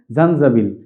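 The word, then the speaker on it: زنجبيل: আদার আরবিটা খুব সুন্দর এবং ইন্টারেস্টিং আরবি হচ্ছে জানজাবিল আপনাদের অনেকের সালসাবিল নাম মনে থাকতে পারে এরকম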